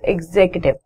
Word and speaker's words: executive: It is the correct pronunciation for this word is executive. So to write the pronunciation for executive, it's X A sound, then K sound, then tiv.